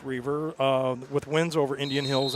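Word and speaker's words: Reiver: Looks like River, it's pronounced Reaver, but it's looks like River, but it's Reaver, with wins over Indian Hills and Butler.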